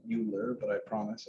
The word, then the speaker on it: Euler: a swiss german guy that's just how they pronounce the eu sound over there like they call it boy rope great math joke by